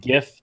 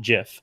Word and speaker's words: GIF: I know, because they look at you like for the same reason that I pronounce it GIF, not GIF.